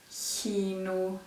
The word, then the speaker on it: kino: That's a way to remind you that those three sounds, well, those three writings are pronounced in the front of the mouth, where you pronounce the S.